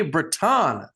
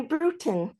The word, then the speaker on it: Bruton: the incredible Miss Braton welcome to the show thank you actually Brewton brewing a ton of coffee is how I like to explain the pronunciation so okay there we